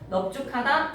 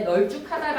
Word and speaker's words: 넓죽하다: 넓다라는 어근에 죽하다라는 어근이 만나서 합성어가 될 때 널죽하다가 아니라 넓죽하다.